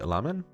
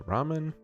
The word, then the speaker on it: ramen: The thing that I find so hilarious is I was gonna say ramen, which is the correct pronunciation in Japanese. But then corrected myself to ramen.